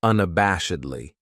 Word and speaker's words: unabashedly: Then we have unabashedly. This adverb has 5 syllables, and the stress is on that third syllable, that bash, unabashedly. That second syllable has that schwa, that sound, unabashedly.